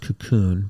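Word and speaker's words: Kaqun: K-A-Q-U-N, but it's pronounced cocoon, but it's K-A-Q-U-N.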